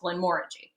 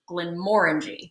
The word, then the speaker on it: Glenmorangie: reality it's actually pronounced Glenmorangie I mean more than orange Glenmorangie hey hey hi hey